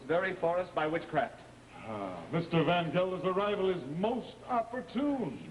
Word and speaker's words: Baccarratti: They pronounce his name Van Gelder, but it's spelled Baccarratti. May I present the Honorable Henrik Van Gelder, my father, the Honorable Ezekiel Martin.